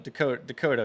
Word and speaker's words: Descoteaux: The last one, Descoteaux, you said, right?